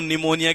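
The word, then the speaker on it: pneumonia: अब देखो निमोनिया के अंदर पी तो साइलेंट पूरी तरीके से रहता है और एग्जाम में क्या करता है?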